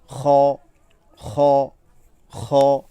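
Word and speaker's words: خ: আর খ হরফটি বলার সময় আমরা স্বাভাবিকভাবেও বলতে পারি, তবে পরিপূর্ণ বিশুদ্ধতার জন্য আমরা এই অংশ থেকে বলতে পারি খ, খ, খ।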